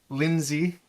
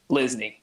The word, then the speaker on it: Lisney: nice to talk to another Lindsay. Linsley. How do you say it? Lisney. How did I say it? Lindsay. You do what Lindsay. everybody does. Lindsay. Oh, I said Lindsay.